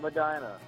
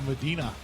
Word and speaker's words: Medina: British accent hello hello Madina whoa look at you getting specific and you even said it correctly everybody else calls a Medina it's Vina rhymes with vagina how the hell does